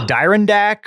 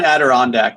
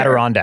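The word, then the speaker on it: Adirondack: Is this a canvas a Dyondac or something? Is that Did I say I probably botched that. Um, more on pronunciation in a moment.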